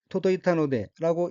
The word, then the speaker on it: 届いたので: 다음 어기는 한자가 이를 개자이고 일본어로는 토도이타노데라고 읽으며 토도이타노데는 닿다, 도달하다, 미치다, 이르다는 뜻의 자동사